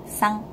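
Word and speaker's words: さん: Kalian lihat kan tulisannya S-A-N. Tapi bacaannya san, bukan san. Ya, jadi bukan jepit gitu loh lidahnya, bukan san tapi sang.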